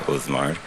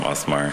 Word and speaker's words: Osmar: Before I begin, I would like to say I know it's pronounced Osmar, but for as long as I've known him, I've always called him Osmar, and it's just been a running joke between us, so that's what you'll hear.